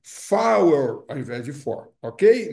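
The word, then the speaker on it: four: Então o número quatro em rádio telefonia não é for ou power, não é power para diferenciar da pronúncia. Então da da pronúncia não, da preposição for é muito comum.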